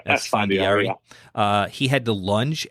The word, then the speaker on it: Esfandiari: We talked about one, Antonio Estefandari. Is that how you say his name? Esfandiari.